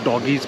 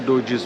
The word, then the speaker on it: Doge's Palace: And I hope I'm not the only one who pronounced it as Doggy's Palace. Look at this. Look at this. Somebody come and look at this. So we are here at Doge's Palace now, and again our group has a